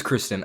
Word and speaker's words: Kristen: it's cursed in Stuart I always say that wait let me check I see I don't even know right now as I'm saying it let me look I think it's Kristen oh it is Kristen I yeah I would always say Kirsten Stewart not Kristen Stewart because I get her mixed up with what's her name Kirsten Dunst uh yeah I always get those two mixed up so I say Kirsten for both but those are the